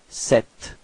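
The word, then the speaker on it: sept: Okay, so the P between and T is not pronounced, so you get this 7.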